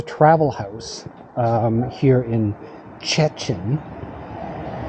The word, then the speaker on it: Szczecin: Um So, I stayed at the travel house um here in Szczecin. Szczecin My wife kept trying to explain to me and show me how to pronounce it with the uh s z c z.